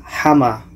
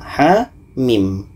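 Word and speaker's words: حم: tujuh surah ya Jadi ini bukan dibaca hama Jangan dibaca hama tapi kita kembalikan kepada ejaan huruf hijjaiah yang ini bacanya ha yang ini dibaca mim nah ha Mim ha mim dan Ha ini Ha ini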